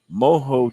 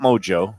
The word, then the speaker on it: mojo: the king of mispronunciation the great moho chicken sandwich not Mojo not Mojo got my mojo rising